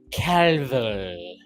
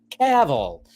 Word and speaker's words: Cavill: he talked about A1 Henry Calville. Caval. Did I say it like that? I don't know why I said it like that. Cavl. Too many L's, he does have two L's in his name.